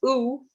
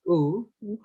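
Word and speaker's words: thu: It's pronounced as oo, so no sound for th here, just oo.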